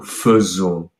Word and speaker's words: faisons: it's actually pronounced nous faisons. And it's one of the rare examples in French where you don't pronounce it exactly as it is written.